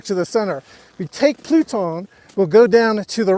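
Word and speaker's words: Plutón: Let's try a more advanced slope over here called Pluton. That's the American pronunciation. French, Pluton.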